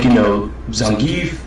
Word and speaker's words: Zangief: Like, Zangief, somebody in Creepy's video tried to give me crap about the fact I said Zangief.